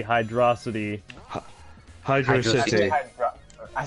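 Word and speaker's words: Hydrocity: When you play the game, that's how it is spelled. There's no space between Hydro and City.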